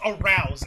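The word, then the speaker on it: Arauz: Mine is Arouse. A-R-A-U-Z. It's pretty easy to mess up that last name. How is that Arouse.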